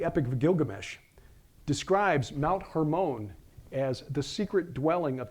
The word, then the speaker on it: Hermon: Hermon which by the way because of that hermone which is the correct pronunciation hermone derives from a Hebrew word that means forbidden